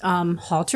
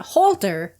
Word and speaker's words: Holter: It's not halter. No. It's holter.